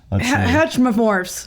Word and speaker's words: heteromorph: Chris can say it heteromorphs heteromorphs heteromorphs homomorphs where's I don't know heteromorphs heteromorphs not hetro that this doesn't sound right homomorphs I can't even spell